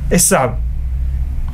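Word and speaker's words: Esav: el edom original sa esab Esaú esau así se escribe en español pero se dice esab Entonces esab era el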